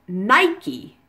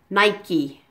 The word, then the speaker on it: Nike: the silent final rule you actually pronounce the e at the end of the word which is quite unusual in English you pronounce it Nike as if the final